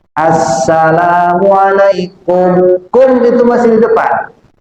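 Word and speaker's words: السلام عليكم: Ada orang baca salam, salamualaikum warahmatullah. Ini saraf fikih enggak sah. Kalimatus salam itu ada alnya. Al ketemu sin itu asamsiyah. Jadi bacanya assalamualaikum.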